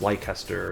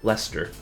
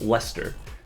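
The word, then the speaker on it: Leicester: I I learned pretty recently that technically um the city that's spelled like L E I C E S T E R, which you would think would be pronounced Lancaster or something or Lychester, is pronounced Lester. It's just Lester.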